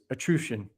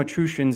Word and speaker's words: Etruscan: It's Etruscan. And the reason I call them Etruscans is the SC in Latin is pronounced, it makes an SH sound.